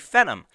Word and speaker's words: Phenom: 750 or an AMD Phenom I thought Phantom was a typo it's not it's how you say it it's pH e NL mmm it sounds like a venom Tom Hardy uh hum